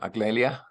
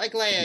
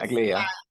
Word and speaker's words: Aglaya: There's a comment by, I probably mispronounced your name, Aglalia? Oh, Aglaya, yes. Aglaia.